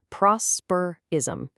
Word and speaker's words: prosperism: Listen to that word carefully, broken down into three distinct syllables, prosperism, prosperism.